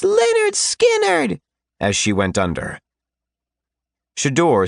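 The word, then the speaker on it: Lynyrd Skynyrd: Brief candle, and it's pronounced Leonard Skannard, as she went under.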